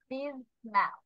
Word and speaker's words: dismal: dark, dismal, Dismal. এখানে S এর উচ্চারণ এরকম হবে dismal.